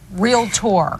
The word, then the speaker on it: realtor: Realtor. Yes, it's 2 syllables, realtor.